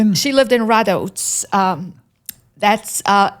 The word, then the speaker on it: Rădăuți: She lived in Radautz. Um that's uh it's spelled r a d u t i but pronounced Radautz.